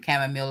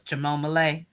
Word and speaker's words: chamomile: did it on purpose mispronouncing chamomile as chamom and I laugh so hard. Every time somebody said chamomile, I'm in my head saying chamom.